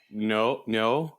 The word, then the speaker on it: Neo: Wouldn't it be more no, or not instead Yeah, of Neo? but because my initial reaction was to mispronounce it Neo.